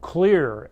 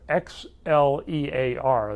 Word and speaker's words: Xlear: It's called Xlear, Xlear. They put an X instead of a C to make it a little gimmick off of the xylitol, which is spelled with an X.